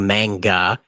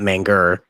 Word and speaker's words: manga: now got into it through manga, not manger.